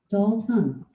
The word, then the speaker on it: Dalton: me personalized just for dalton pronounced doll ton it's 19.